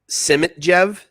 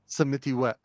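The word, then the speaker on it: Samitivej: No, that's not how you pronounce it. You know what I mean? What is it? Samitiwet. Samitiwet. Yeah. Isn't there a J in it? Yeah. Oh, and you pronounce the J as a W?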